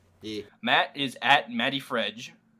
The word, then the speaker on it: MattyFreg: Matt is at Matty Fredge. Which is spelled MATTYFREG, not And DGE. It's a soft G.